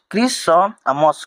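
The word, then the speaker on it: Christmas: यहां पर टी को हटा देंगे तो यहां पर क्या हो जाएगा? क्रिसम क्रिसमस। क्रिसमस हो जाएगा।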